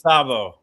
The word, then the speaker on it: Szabo: I'll pronounce it like you're pronouncing it. Add an extra z in there, yep. Szabo. it's Szabo.